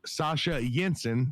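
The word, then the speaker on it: Sasha Jenson: did very well uh brady played by sasha sasha jensen by the way is how you pronounce that sasha jensen did fantastic as well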